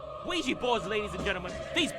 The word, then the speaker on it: Ouija: It may seem unrelated, but I've asked a data analyst expert to give us the proper pronunciation of this word. Nee, alsjeblieft niet. Ouija. Ouija boards, ladies and gentlemen.